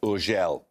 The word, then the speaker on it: Urgell: It's usually pronounced Urgell.